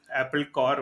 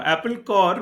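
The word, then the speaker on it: Apple Corps: No, Apple Core was the label that was created by the Beatles, right? It is CORPS, but pronounced Core, sounding like Apple Core.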